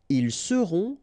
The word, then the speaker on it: ils seront: the end, et serez, ils seront, final T not pronounced, elles seront.